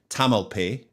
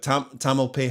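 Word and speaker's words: Tamalpais: is there a silent is it Tamil p is it a silent s in the end where's the emphasis in the word I'm fixated by saying things properly so we're gonna say Tamil pay hopefully that's right Tamil pays so David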